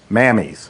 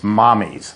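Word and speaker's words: Mamis: It's spelled M-A-M-I-S. Mammies. Mammies. It sounds like it should be Mammies or Mamies. It's Italian for mother. It's mommies.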